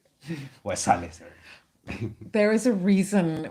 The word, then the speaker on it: Waisale: Waisale. Waisale, sir.